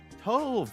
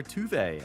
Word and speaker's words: Tove: Number seven, Tove or Tuve as apparently her name is actually pronounced.